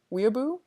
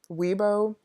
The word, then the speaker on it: weeaboo: Weeaboo? I sound even worse now because I mispronounced weeaboo, like weebo.